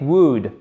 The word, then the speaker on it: would: Déjà, le L ne se prononce pas. Même chose avec would.